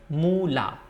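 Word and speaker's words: মুলা: Radish is mula, mula, moi, rosho u, law, this one is law, akar, mula, radish.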